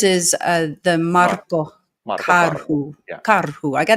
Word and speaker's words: Karhu: I got to get the rolling of the Rs in in your name. Yay. Marco Caru. It sounds so much better. No, but it sounds so much better with in the proper pronunciation.